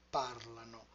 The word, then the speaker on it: parlano: Io parlo, tu parli, lui or lei parla, noi parliamo, voi parlate, loro parlano. In parlano, the stress is moved back by one syllable.